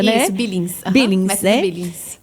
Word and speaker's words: Billings: É essa a pronúncia, né? Isso, Billings.